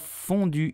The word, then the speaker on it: fondue: you will say burginian the e at the end of fondue is totally silent so do not pronounce it I hope you enjoyed